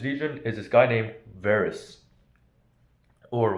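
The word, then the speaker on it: Varus: is this guy named Varys or Wados in Latin. So by the way in Latin um the letter V um is pronounced like the English letter W, right?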